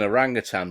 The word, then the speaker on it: orangutan: gonna go with uh an orange yutan it's an orangutan but that's how i used to pronounce it when i was a kid when i just read it